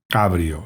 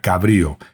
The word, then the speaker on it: cabrio: Ojo, cabrio sin acento en la I, porque eso sería cabrío y eso tiene que ver ya con la fauna, no con los coches.